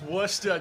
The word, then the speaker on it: Worcester: I've been able to travel to Massachusetts, and there's a very particular way you say the name of this city. How do you say it? Oh, Hale, it's Worcester, dude.